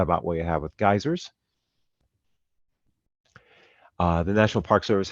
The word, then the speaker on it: geysers: is the r the geysers or if you want the British spelling uh or pronunciation geezers but uh geysers mud